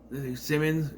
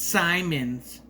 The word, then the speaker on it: Simons: But, Bridget, there's a running joke, well, they keep saying her last name wrong. Simmons. She's like, it's Simons. Or, It's Simons or whatever the New Zealand accent, but she tries to sound American.